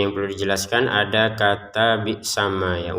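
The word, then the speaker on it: بِئْسَمَا: Huruf mimnya ini harokat fathah, kemudian ada alif. Kita bacanya itu dua harokat ya panjangnya. Bi'sama itu awalnya seperti itu. Namun ternyata di depannya ada shin sukun ini, maka ya ketika digabungkan panjangnya ma sudah tidak ada lagi.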